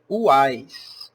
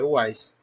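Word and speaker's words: Houaiss: dicionário também se leia Uais. Uais. Parece um mineiro, né? Uais, mas Uais mesmo. Não tem esse H é mudo, tá? E o O não se pronuncia. É Uais.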